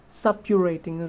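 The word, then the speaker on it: suppurating: uh sorry actually the the correct pronunciation of s-u-p-u-r-a-t-i-n-g is sub-curating right so subpurity is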